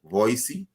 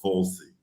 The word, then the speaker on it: Volsi: Is it Voicey? Well, the fact that you're in Jamaica, you'll be fine. I forgive you, but the name is Volsi.